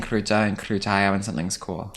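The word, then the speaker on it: крута: So krutaya's girl, kruta's boy? Yeah. Yeah, I thought so. Because Yeah. the flowery extra syllable of Exactly. feminism. yeah. With your blessing, I'd love to start saying kruta and krutaya when something's cool.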